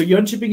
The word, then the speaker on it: Jönköping: we have uh um so young shipping university is how we pronounce it and we have four